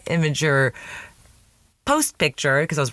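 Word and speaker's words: Imgur: But that's the one that I was a little worried about posting as my immigr. Oh my god, I used to say it like that. My imager post picture because I was worried it would get taken down.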